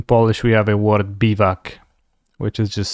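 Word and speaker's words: biwak: be back in Polish we have a word bivak which is just spelled b-i-w AK bivak Bible work which I guess French pronunciation will be black yeah that's why the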